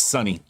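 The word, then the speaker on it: Suni: got pulled out so suny could win she served a purpose for black lives matter and now it's asian lives matter time it's pronounced it's sunny like sunny johnson okay uncle's griffin hard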